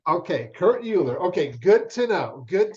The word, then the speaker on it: Uhlir: I pronounce it Uhlir, but I've had far too many people work for me throughout Europe that make fun of me for how I say my last name because it's a Czech name, and they joke that I can't actually pronounce my own name properly. But Kurt Uhlir is how I would say it.